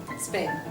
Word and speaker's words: Sven: Sven. Actually, it is pronounced Sven.